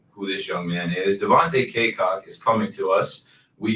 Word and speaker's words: Devontae Cacok: And we will stop talking about that and move on to Devontae Cacok. I looked up the pronunciation. I had to make sure. Devontae Cacok.